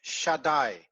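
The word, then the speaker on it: Shaddai: in your mind uh should read this word shadai it is when you say it very slowly it is shut die okay so the first d is soft and the second d is a little bit harder shadai this is and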